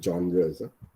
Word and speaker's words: genres: Okay, see, it sounds as if you are from Canada because only people from Canada would pronounce about as about. Okay. Genres. Okay, GENRE is genres.